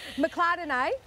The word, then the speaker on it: McClardenay: Nathan and everyone from McClardenay Highland Cattle. See, I was practising that. Yeah, no, you did well, Lise. Every single time I was saying McClardenay, but it rhymes with Chardonnay, which is how I remembered it.